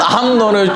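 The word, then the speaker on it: 암논: 순놈이 아니라 암 암 암론을 죽이고이 발음이 순놈이 아니라 암론을 죽이고 도망갔단 말이에요.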